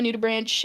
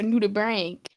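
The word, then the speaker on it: nudibranch: Um, I'm basically orange and I'm a nuda branch aka or I guess a nuda brank as I recently discovered is a proper pronunciation.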